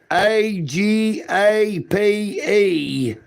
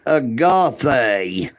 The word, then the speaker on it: agape: JS is quoting scripture, but JS does not realize that A G A P E is pronounced agape J.